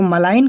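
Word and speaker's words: malign: तो मलाइन, आपको पता ना मलाई गना नहीं पढ़ना, जी से ग या ज नहीं पढ़ना, बिकॉज ये एन के पहले है तो it will be silent, okay, ये साइलेंट होगा।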